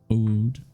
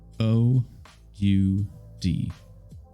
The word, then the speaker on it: oud: The deep, melodious stringed resonance of the oud. Okay, Jennifer. I need your help. O-U-D.